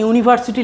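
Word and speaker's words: university: একটা জিনিস বলি, এখানে যে ইউনিভার্সিটি লেখা আছে, এখানে দেখো শুরুটা কি দিয়ে আছে? ইউ। ইউ দিয়ে আছে। ইউটা ভাওয়েল, উচ্চারণও হচ্ছে ভাওয়েলের মতো, কিন্তু আমরা এখানে তাও অ্যান বসাতে পারবো না।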